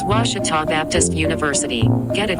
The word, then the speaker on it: Ouachita: make community engagement ours i've heard people say oh a cheetah oh wichita oh a cheetah is it pronounced oh akita university back in texas everybody pronounces it wichita but really it's ouachita washington washington how would